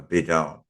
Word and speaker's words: bidone: Biden b d o n a Biden a bidone um and um so just remember a bedone